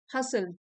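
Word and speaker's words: hustle: Starting a side हसल हसल T silent है इसमें।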